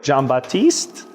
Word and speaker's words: Jean-Baptiste: Okay, hey everybody, we're here with Ingrid Jean-Baptiste. Did I pronounce that right?